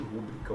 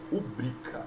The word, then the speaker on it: pública: está errada o chow-chow não existe pública o que existe é pública Oi tudo bem não